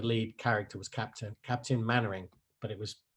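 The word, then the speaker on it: Mainwaring: out which is hilarious my name is pronounced mannering like dad's army it's an old tv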